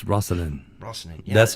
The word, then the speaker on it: Rasane: It's Rasane. Rasane. Yeah. That's right. Is that right? Did I say it right? I was gonna be nice. It's actually Rasane.